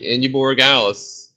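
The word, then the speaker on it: Andy Borregales: the Eagles defense special teams, and 13 from Indy Bargalis from New England. Yeah. Yep, you said it right. Indy Borregales.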